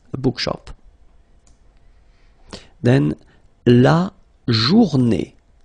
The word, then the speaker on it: journée: Then, la journée, final E, not pronounced, and it's day.